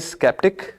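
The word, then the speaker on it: skeptic: हालांकि जो first word है उसको अगर प्रोनाउंसिएशन कोई बताए ना तो हम शायद सेप्टिक ही पढ़ते हैं इसको, क्योंकि साइंस में भी SE से ही स्टार्ट होता है। Word is स्केप्टिक, second word is सेप्टिक।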